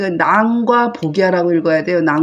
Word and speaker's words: 僕射: 꼭 그 시간에 했던 것처럼 그러더니 그 낭과 보기라고 읽어야 돼요 보 보라고 읽지 말고 나이라는 그 관명 보기라는 관명 있어요